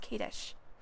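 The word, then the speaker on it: Kadish: It's pronounced Kadesh.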